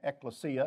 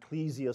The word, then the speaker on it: ekklesia: The Greek word ekklesia, or ecclesia, some will say.